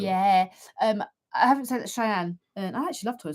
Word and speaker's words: Cheyenne: We stay either Santa Fe or Cheyenne. Oh, well done. You pronounced them correct, you.